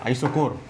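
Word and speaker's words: isochore: ঠিক আছে, আইসো CH এর উচ্চারণ হচ্ছে ক এর মতো, আইসোকোর।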